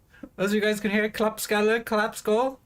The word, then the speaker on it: klappskalle: I do really like the Swedish word klappskalle, which means dumbass. Actually, it means clap head. Well, clap skull. As you guys can hear, klappskalle, clap skull.